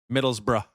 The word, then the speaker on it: Middlesbrough: Yeah, I actually thought Yeah, I was saying it wrong because I literally thought there was an O in between the B and the R in the middle of that, but like most things,